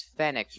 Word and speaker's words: Fenix: San Diego I got it Marcus that's Marcus Fenix right so like they wanted Marcus Phoenix but